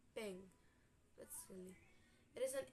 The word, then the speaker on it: PNG: PNG portable network graphic or and oh yeah it is pronounced ping let's see it is